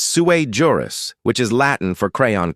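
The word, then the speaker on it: sui juris: Because it's not sujurus, it's suer juris, which is Latin for crayon cruncher.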